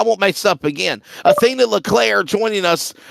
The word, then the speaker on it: Leclerc: Leclerc. So it's not. Okay, so it's not the C. You're not adding to the C. It is Leclerc.